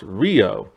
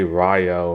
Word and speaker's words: Ryo: Now, in the OVAs, his name is later pronounced Rio. And I believe that's because that's the actual correct pronunciation and stuff. But I grew up with the American dub, so I'm gonna say Ryo and everything.